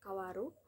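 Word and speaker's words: 変わる: Terdapat tiga cara baca bisa dibaca kawaru atau bisa juga kaeru secara kunyomi dan secara onyomi dibaca heng.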